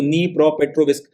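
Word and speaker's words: Dnipropetrovsk: अब यहां पे आप इसकी स्पेलिंग में डी देख रहे होंगे मगर इसका प्रोनंसिएशन मैंने बकायदा गूगल किया है क्योंकि अपन हिंदुस्तानियों में से किसी से इसका प्रोनंसिएशन होगा नहीं। उसमें मुझे पता चला कि डी साइलेंट है। इसको नी प्रोपेट्रोविस्क के नाम से प्रोनाउंस करते हैं।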